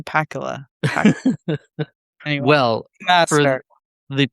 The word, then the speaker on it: Pakula: I used to just I grew up thinking his name was Pacula. After some time I'm like his name doesn't sound and rhyme with Dracula, right? Um, Alan J. Pakula.